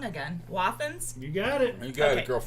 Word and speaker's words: Wathen's: This All is the, I'm going to say it wrong again, Wathen's.